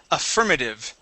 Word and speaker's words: affirmative: words here okay um this is affirmative affirmative good good yeah with the stress right here on the IR okay very good uh